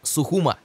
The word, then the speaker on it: Сухум: до столицы абхазии города сухум именно так правильно говорить не сухуми а сухум это географический центр страны протяженность